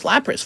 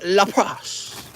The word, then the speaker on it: Lapras: today's a double stream you pronounce Lapras funny it's pronounced Lapras we there we go